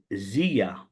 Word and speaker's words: Zelia: And it's called Zia. So it's spelled Zelia. And I pronounce it Zia because the word in Greek, zia, means jealousy, jealous.